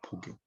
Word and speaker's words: 복용: 그러니까 이때는 복용이라고 읽는 게 좋겠네요. 복용. 부용보다는.